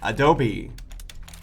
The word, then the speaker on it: adobe: The word Adobe is Spanish. You pronounce the last E. Adobe.